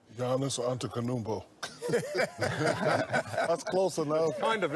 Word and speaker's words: Giannis Antetokounmpo: Can you pronounce Giannis's last name for Giannis, just to make sure the pronunciation is correct? Giannis Antetokounmpo.